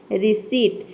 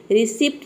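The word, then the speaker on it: receipt: अब देखिए यहाँ पे रिसीट में पी के बाद टी आया और यहाँ पे हम इसको बोलते हैं रिसीट, रिसिप्ट नहीं बोलते, ये होता है रिसीट।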